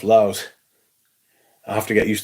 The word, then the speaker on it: Laos: I've been told in no uncertain terms that it's pronounced Laos.